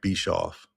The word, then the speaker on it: Bischoff: Am I pronouncing that right? Bischoff. Yeah, it's Bischoff. Yep.